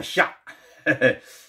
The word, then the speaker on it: 厦: 型的房子叫做沙啊，那么也读作下。